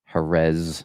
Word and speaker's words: Jerez: It's Herz. it's spelled, you know, with the Z at the end and they um pronounce the Z with the th and a lot of